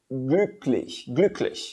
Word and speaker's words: glücklich: É isso aí, a pronúncia dele fica assim, glücklich.